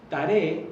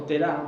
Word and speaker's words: Terah: A mí me interesa mucho que lleguemos a este hombre que es Terah, porque Taré, o Terah, como algunos lo van a pronunciar, va a ser el padre de Abraham.